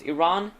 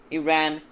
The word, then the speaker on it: Iran: This country can be pronounced Iran, Iran, and Iran.